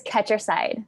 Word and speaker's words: Ketcherside: And, is your last name pronounced Ketcherside? It's Ketcherside. Ketcherside, okay.